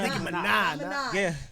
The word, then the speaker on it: Minaj: Not Nicki Minaj.